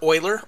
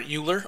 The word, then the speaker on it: Euler: objects about rotation here so u stands for Euler or Euler I prefer Euler pronounciation both I've heard common and around work